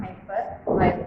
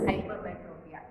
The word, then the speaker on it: hypermetropia: It's not hypermyopia, it's hypermetropia.